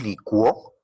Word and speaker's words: licuó: Si decimos licuó en tiempo pasado, hay diptongo, en este caso es una palabra aguda, y lleva tilde porque es una palabra aguda y termina en vocal.